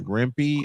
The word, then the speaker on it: Rempe: Yeah, because the name McCarthy asks, so Green Tree is just another Matt, I want to say this right, Rempe? Is that the correct pronunciation?